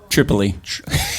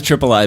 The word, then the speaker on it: Tripoli: How do you say, is it Triple E or Triple I? Tripoli. I feel like you get to say that. No, everybody says Triple I, but I just call it I've Tripoli always said because of Tripoli.